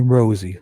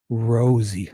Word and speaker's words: Rosie: And it's definitely rosy, like a rose, because that's exactly what he said in the courthouse the day he started.